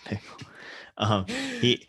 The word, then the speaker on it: Bickle: are definitely directly inspired I think it's by pronounced like pickle. Sorry. Travis Bickle.